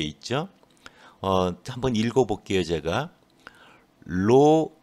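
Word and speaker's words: ρ: 로 xy 이렇게 돼 있어요. 로라고 읽거든요.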